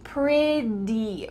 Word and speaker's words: pretty: Now, if you wanna sound like an American, the word pretty, even though it has T's, it's gonna sound like a D sound. So try to say it with me. Pretty, pretty, pretty.